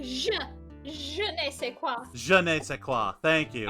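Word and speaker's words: je ne sais quoi: mr caretaker man is janae say quoi give your old man a french education class you don't pronounce it like a hard j nick you pronounce it like je nei se quoi je ne sais thank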